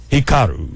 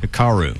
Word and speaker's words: Hikaru: congratulations Samuel and I'll let you do the pronunciation of suu's first name Hikaru Hikaru h i k a r u okay and